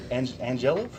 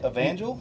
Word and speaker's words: Evangel: Angelov? Starts with an E. Evangel. Evangel?